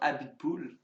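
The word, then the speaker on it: Abiteboul: Abitboul. Could be quite a Is good that one. actually how you pronounce it? Yes, Oh, there you go. Cyril Abitboul.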